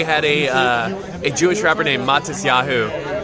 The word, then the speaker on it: Matisyahu: So in the States, we had a Jewish rapper named Matisyahu. And so I said Matisyahu, but it's Matisyahu. Matisyahu. Matisyahu. Matisyahu. Matisyahu. That's like the rapper.